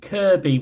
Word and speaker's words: Kirkby: May or may not be in Kirkby soon for some reason. Or Kirby. Come on, Scousers. Why is it Kirby when it's spelled Kirkby?